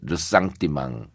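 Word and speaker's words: ressentiment: 이제 그 리젠트먼트라는 영어의 프랑스식 발음인데 르상띠망 이 열패감이라고도 이렇게 표현이 되는데 네.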